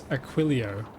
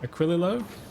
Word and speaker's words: Aquilo: Pronounce it as Aquilio. Wait, Aquilo.